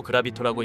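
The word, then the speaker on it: 重力刀: 히라가나에서 알 수 있듯이 중력도라고 쓰고 그라비토라고 읽는데 영어로 중력을 의미하는 그래비티를 이용한 일종의 말장난입니다.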